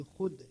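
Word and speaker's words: خود: जैसे कि खुद, खुद में खे वाव दाल है लेकिन लिखने में आ रहा है, लेकिन वाव साकित है, यानी वाव साइलेंट है।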